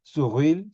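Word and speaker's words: Sourrouille: Tenemos a Greenspo por su ruil y luego o suil si quieren, ¿no? porque la R los franceses la pronuncian así.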